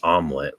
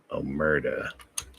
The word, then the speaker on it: Omerta: I always make my brain tells me it's omelet, but it's not omelet. Lamb of God. It's Omerta.